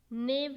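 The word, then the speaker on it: knave: word है वह है नेव के बारे में इसमें भी के जो है वह साइलेंट है तो नेव है इसका मतलब होता है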